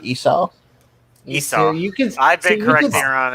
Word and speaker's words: Esau: And Rebekah spak onto his meat, onto Jacob, her son, saying, Behold, I heard thy father speak unto Esau, thy brother, saying, Bring me venison.